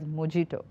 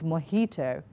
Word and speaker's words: mojito: pronouncing this word as mojito no J it's moito mojito mojito no and